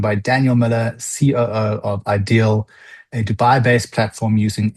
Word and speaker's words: idea-L: So, ideal um which is spelled IDEA hyphenel but we pronounce as Ideal